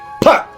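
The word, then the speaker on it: phat: As soon as you feel that the eyes are still and you're comfortable with it, then firmly shout, PAT! P-H-A-T.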